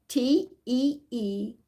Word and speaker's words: Teeccino: The company that you should go to is, I'm going to spell it, TEECCINO.